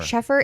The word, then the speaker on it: Sheffer: Is it Schaefer or Sheffer? Sheffer.